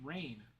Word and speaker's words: Reign: No, it's spelled like uh re ei gn. Like you're reigning over something like a king reigns over a kingdom.